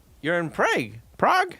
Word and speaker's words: Prague: competition the a in Prague is pronounced like the a in lard prag Prague am I saying